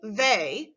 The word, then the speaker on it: they: pronounced a when reading they remember to pronounce the e and y as a when you are writing